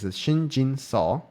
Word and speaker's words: Shin Jinseo: At this point, white uh Shinjin say Shinjin Soul. I I said the the name wrong like in my last video. Okay, Shinjin Saw.